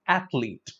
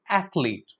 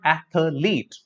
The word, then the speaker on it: athlete: So between this H and L, there is no vowel sound. So it is just athlete. My friend is an athlete. He's not athlete.